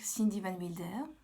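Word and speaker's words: Cindy Van Wilder: une petite présentation s'impose d'abord je suis donc Cindy van Mulder oui ça se prononce ainsi du moins moi je prononce ainsi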